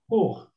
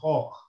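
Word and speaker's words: خوخ: Like in this instance, it's a khokh, not khukh, but go on with the U, the whole So time.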